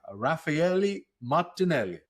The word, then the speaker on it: Raffaele Martinelli: I'm your host, and today we are joined by Raphaeli Martinelli. That's amazing. First of all, great pronunciation.